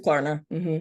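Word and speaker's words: Klarna: affirm PayPal affirm Clara is that how you pronounce that it's Clara Clara PayPal PayPal airm okay good deal so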